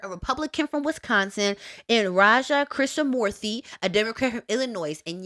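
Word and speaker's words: Raja Krishnamoorthi: name Mike Gallagher a republican from Wisconsin and Raja chrisa Mory a Democrat from Illinois and yes that is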